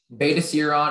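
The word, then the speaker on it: Betaseron: Beta serum is the only pronunciation.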